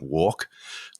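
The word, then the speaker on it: WARC: know there's research that walk pronounced like that is it's spelled w-a-r-c there's research that they've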